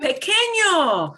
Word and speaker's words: pequeño: That's got an ñ. So that's a good one to bring up now. Pequeño means small in size. Some people get pequeño confused with this word here.